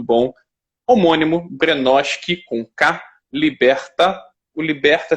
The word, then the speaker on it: Libertae: homônimo granoski conca liberta liberta tem um s no final mas não é para se pronunciar é já estamos aqui